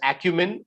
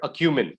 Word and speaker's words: acumen: results so this partic you can you can pronounce this word as acumen okay or acumen both are fine okay acumen or acumen both